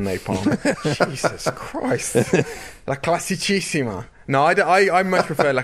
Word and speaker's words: La Classicissima: monument of the season, La Classicissima, La Primavera. Which nickname's the right one, Daniel? Well, definitely not the way you pronounce the first one, Napalm. Jesus Christ. La Classicissima.